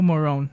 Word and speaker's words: Morones: well, I don't know if it was like an English pronunciation or the Spanish pronunciation. You say it better than I can. Yeah. It's Morones.